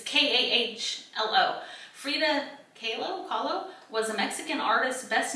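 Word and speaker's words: Kahlo: call low Carlo payLo it's k-a-h-l-o Frida Kayla Kalo was a Mexican artist best known for her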